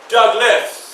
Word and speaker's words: Douglass: So you will pronounce my name as Douglas. So the S would sound Douglas.